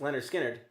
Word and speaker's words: Lynyrd Skynyrd: confusion was pronounced was called rather was called pronounced Leonard Skinnard.